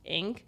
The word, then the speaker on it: EENK: One of my other favorite shows and moments was the Ink show. The brand is spelled EENK, but it's pronounced Ink.